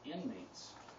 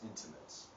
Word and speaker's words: intimates: 28% of all annual violence against women is perpetrated by inmates, which is a sad thing to hear. Sorry to correct you, that's intimates. Mispronunciation.